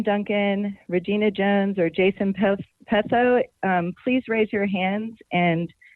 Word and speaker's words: Petho: So yes, I'm Jason Petho or Petho, whichever is easier to pronounce. Sorry. How do you pronounce it? Petho. Petho, okay, very good. That's how we'll pronounce it.